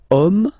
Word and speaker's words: homme: And then here, we've got the word homme, man, okay? But then it starts with H, as in French, H is not pronounced, so the first sound that we hear is O, okay, and then it will follow the same rule.